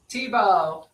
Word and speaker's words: Thibeault: Tibo. Tibo.